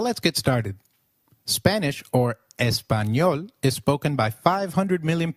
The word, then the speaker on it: Español: The letter A is pronounced as A, as in father. Did you notice the letter ñ in Español? This letter is peculiar to Spanish. It is pronounced as ni, like in canyon.